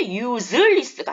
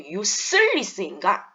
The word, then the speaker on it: useless: 왜 useless가 아니고 useless인가? 스하고 z하고 품사가 다릅니다.